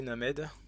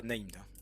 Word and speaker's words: Named: Après en commentaire, n'hésitez pas à partager vos connaissances sur sur ces Named. On prononce à la française he named. On dit pas Naimed, c'est interdit. C'est interdit.